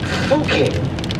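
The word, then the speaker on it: Fucking: because its name is fuking which is pronounced that way but spelled like a word in english that's pronounced not quite that way i don't know though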